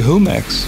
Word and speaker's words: Jumex: always pretty you know I think it's supposed to be who max its in Mexico was like whom x2 because like the J is silent so but you go